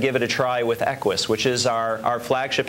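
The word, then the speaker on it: Equus: And I'm thinking about and forgive me I'm going to mispronounce it but the 60,000 is it Equis? Yeah Equis you've got it right Carol.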